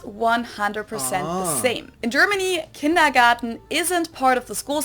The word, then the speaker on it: Kindergarten: It's funny, kindergarten, for the most part of my life, I thought it was a garden at the end, but it's a T, it's not a D.